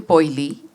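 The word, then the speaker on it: Poile: and that boiler became poily and i became poorly so it's uh rhymes with oily oily but spelled p-o-i-l-e and poorly was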